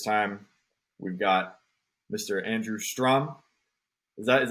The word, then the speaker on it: Strohm: Andrew Strom. Is that how you pronounce it? Last name? Strohm. Yeah. Strom. Strohm comes out Strom. It's German.